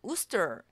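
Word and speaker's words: Worcester: 실제로 이런 도시가 있습니다 그런데 재미있게도 발음이 우 스트럼 이렇게 되더라구요 셀리 늘 어 셀리의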